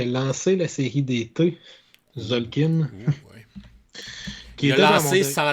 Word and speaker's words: Tzolk'in: À ce moment-là, c'était pas encore la série d'été, c'était juste Tzolk'in. Surtout, étrangement, c'est le seul que tu le prononces pas, le T.